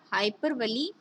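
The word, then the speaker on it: hyperbole: ठीक है, नेक्स्ट देखिए, आपका नेक्स्ट है, इसे आप हाइपरबली या हाइपरबोल दोनों नेम से प्रोनाउंस करते हैं।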